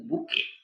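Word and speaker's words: bouquet: সালে বানানটা এসছিল বুকে বানানটা মনে রাখবে এর উচ্চারণ কিন্তু বুকে বি ইউ কি প্লেস গেমলিং গেমস প্লেড যেখানে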